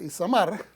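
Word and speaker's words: Itamar: pronuncian, Eleazar e Ismael, e Isamar, no Ismael, Isamar, que tienen prohibido llorar,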